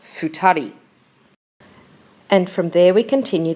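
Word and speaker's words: 二人: this case the two and the people is pronounced futari and from there we continue the list as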